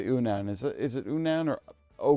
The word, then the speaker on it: Unown: It's the Unown. I know it's supposed to be the unknown, but I pronounce it the Unown.